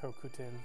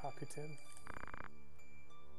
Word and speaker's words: Hokuten: And by the way, I know it's pronounced Hokuten, but ever since I was a child, I pronounced it Hakuten.